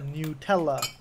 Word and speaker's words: Nutella: sucks you tell us FAQ does say it is pronounced a Nutella oh how about that